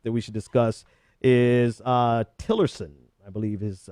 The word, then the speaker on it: Tillerson: His other pick that we should discuss is Tillerson, I believe is how you pronounce his Exxon CEO Rex Tillerson.